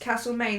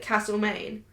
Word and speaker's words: Castlemaine: No, but that town is pronounced Castlemaine. The people who live there pronounce it Castlemaine.